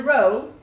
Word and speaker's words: rho: okay so up and say row like row your boat it is spelled r h o row you can spell